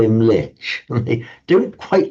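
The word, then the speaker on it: म्लेच्छ: In fact, in Sanskrit, it is mlecha. and it's sometimes quite amusing. You can slightly tease the Hindus, tease the Brahmins, because mlecha in modern northern India it's pronounced just mlech.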